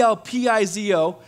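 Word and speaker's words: ἐλπίζω: the first word is e el paseo y el pizo that's how you truly pronounce it in the Greek lpz oh and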